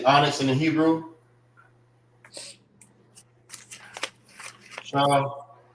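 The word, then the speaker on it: שהם: Shaham. Shaham.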